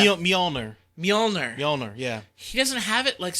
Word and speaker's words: Mjolnir: Mjolnir, yeah.